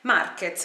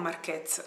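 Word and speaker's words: Márquez: Marquez, non Marquez, Marquez, l'accento è sulla A.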